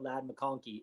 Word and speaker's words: McConkey: How many weeks have you been drafting Ladd McConkey and you still call him McConkey? I always throw an L in there.